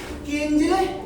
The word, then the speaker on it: किंजले: आपके नाम का सही उच्चारण यही है ना, किंजले? जी हाँ, सही यही है।